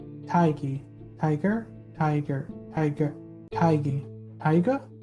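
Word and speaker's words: Tadhg: but without the r taiki tiger tiger tiger tiger tiger it's pronounced like tiger but without the r tiger tiger huh irish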